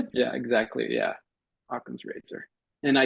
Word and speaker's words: Okom: you I was like I was calling it okum and then I heard Chris and I was like he definitely said a yeah exactly yeah aam Razer and I spell it